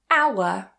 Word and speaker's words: hour: French or Old French, we tend not to pronounce that H as a h sound. We just remove it completely. For example, honest, honest. Hour, hour.